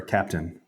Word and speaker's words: Captain: Can we get a pronunciation on Cap'n or Captain? It's just Captain. Well, that is a good point. That is a good point. We say Captain, so we may not be doing it completely correctly.